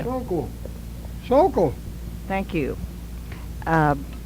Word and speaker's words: Sokoll: so cold. Soul You can read Coal. better than that. Sokoll. Sokoll. Sokoll. So cool. Oh, let's let him pronounce that word correctly for you. So cool.